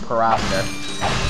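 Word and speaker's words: Pyrocitor: Although, don't tell me, because I know that it's pronounced, Pyroster. It's just, I'm so used to calling it the Pyrocider from when I was younger, I just can't seem to get to call it, the Pyrocider.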